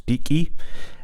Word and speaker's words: Deacy: that properly, Deacy tone, because it's named after the little amp which we'll look at shortly that John Deacon made. So it's Deacy, and no comments please